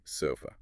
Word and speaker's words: sofa: And compare that to say sofa, right? Sofa. first syllable eso is stressed but the second syllable th uses the unstressedwah the shu so you get a swah quick quiet reduced so for someone